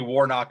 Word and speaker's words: Warnock: that matters but um i say ossoff certainly warnock is correct and it's lefler i believe